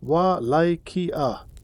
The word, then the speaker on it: Wallachia: was a small principality called Wallachia, pronounced Wallachia.